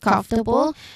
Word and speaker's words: comfortable: we've already mentioned about comfortable. So to make it short, we uh since it's able or able um for the rule says third syllable from the end and that's com.